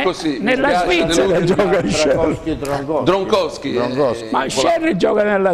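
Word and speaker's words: Kjær: Non è Kier. Non è Kier, che tutti chiamano Kier, si chiamerebbe Scher in Danimarca, però va bene. Scher. Come la cantante. Scher. Purtroppo è così. Nella Svizzera gioca Scher.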